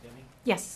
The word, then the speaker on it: Deming: Deming, is pronounced Deming?